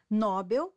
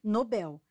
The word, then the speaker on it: Nobel: é o correto rubrica nóbel forma incorreta O correto é Nobel Record forma incorreta O